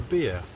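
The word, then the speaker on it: Behe: There's a certain Professor Beer, B-E-H-E, his name is spelled, and he has a notion which he calls irreducible complexity.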